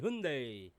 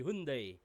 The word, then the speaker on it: Hyundai: k uto accent y Alam ko ang tamang pronounce ng Hyundai ay Hyundai dito sa atin ang tawag Hyundai pero ah B because ng ibang pin Hyundai pero ang pagkakaalam ko ang tamang pagbikas ay Hyundai Ayun ang pagkakaalam ko